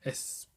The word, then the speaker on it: Espanyol: Espanyol, that's how you say it.